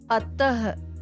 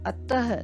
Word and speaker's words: अतः: For example अतः, अतः देखिए आप इसका उच्चारण करके देखिए, ह की ध्वनि आ रही है ना।